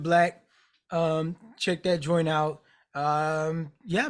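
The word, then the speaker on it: 6lack: It's spelled, the B is a 6, 6 Lack. He Yeah. pronounces it Black.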